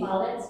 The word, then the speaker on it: ballet: So, in theaters, through the dance, in cinemas, in ballet. We don't say ballet, we don't say ballets, we say ballet. Despite the fact that there is T in the end, we don't pronounce it.